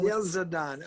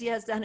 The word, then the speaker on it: Yezdan: Well, they say yes, Don, God. You hear the kind of schwas on God. Yes, Don. Who? Yezdan. Okay. Yeah, it is Yezdan.